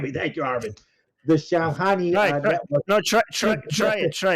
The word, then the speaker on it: Shamkhani: Shamkhani Thank you. I can't do the right. Forgive me. Thank you, Armin. The Shamkhani No, try try try try it.